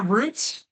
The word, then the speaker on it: root: The first thing that I'm going to do today is cd into slash name rhymes with boot. Yeah, that's going to be our root.